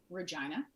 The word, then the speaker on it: Regina: Well, I grew up in a small city in Canada called Regina. That's how it's pronounced.